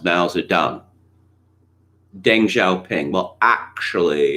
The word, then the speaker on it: Mao Zedong: detail um okay so mao zedong in opinion oh it's actually it's pronounced mal's are done deng xiaoping well actually